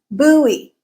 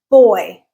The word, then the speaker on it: buoy: In British English, this word is pronounced as boy, boy, boy, like girl versus boy. Okay, so it's as if you take away that U and you're left with B-O-Y, boy.